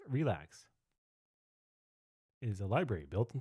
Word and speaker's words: RLax: source code okay so arax pronounced relax is a library built